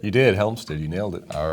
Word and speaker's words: Hjelmstad: Did I pronounce that right? You did, Hjelmstad.